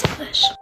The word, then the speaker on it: Salish: with a question mark, but thank you for pronouncing it right. You're right, it is Salish.